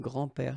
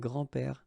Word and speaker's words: grands-pères: Okay, so it's not really difficult, and especially if you think about that, you don't pronounce this s, so actually phonetically it's the same, grand-père here and grand-père here.